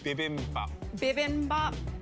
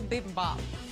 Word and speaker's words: bibimbap: you tell me how to say it correctly bibimbap yeah okay i made an asian inspired shrimp and pineapple bibi bomb what is this here it's an asian ridiculous